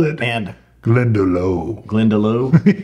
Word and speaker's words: Glendalough: have called it and glendalough glendalou glenda lock is how i've heard it pronounced okay l-o-u-g-h has got